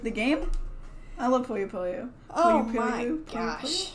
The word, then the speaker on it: Puyo Puyo: We can do Puyo Puyo.